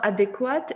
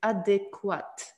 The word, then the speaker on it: adéquat: ici je voulais mettre attirer votre attention à la russia sion de l'adjectif adéquat d'accord en prononcer ce prononcer ce qui est un peu bizarre et encore quoi tu parce que d'habitude q u on prononce comme que d'accord mais là vous prononcer u adéquat encore ensuite le